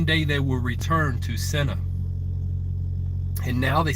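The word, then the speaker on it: Sena: see you in senna it's like s-e-n-a but it's pronounced like s-e-n-n-a you can look it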